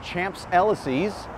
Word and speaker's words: Champs-Élysées: I think it's pronounced Champs-Élysées.